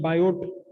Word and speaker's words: Biot: बायो Savart law, BIOT, बायोट है, पढ़ा जाता है इसे बायो, टी साइलेंट है।